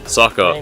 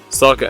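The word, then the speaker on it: Sokka: a lost little girl Saka unironically Rhymes his name with rhymes with waka waka kill me waka waka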